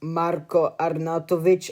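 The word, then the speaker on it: Marko Arnautović: It is actually pronounced Marco Arnatoic.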